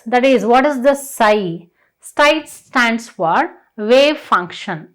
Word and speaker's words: psi: That means psi stands for PSI. So we can pronounce it as psi.